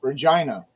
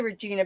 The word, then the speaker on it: Regina: And a lot of people do say Regina because it's an E. Yeah, Google Maps says Regina. It is. It's an E. It's Regina. It's the way it's spelled, but it's said Regina. Should be I.